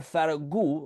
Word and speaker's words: Ferragu: I'm excited to be sitting down with Pierre Faragu. Hopefully I pronounced it correctly, who is the lead producer of the Bernardet the musical, which will be out later this month.